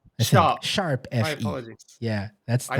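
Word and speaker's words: ♯FE: Not hashtag, is Sharp. Sharp FE.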